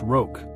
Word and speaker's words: Roque: "It's pronounced Roque," Daddy was saying.